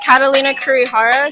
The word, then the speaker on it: Catalina Kurihara: To start off with, can you tell us your first and last name and then how you spell it? Yeah. My name is Catalina Kurihara.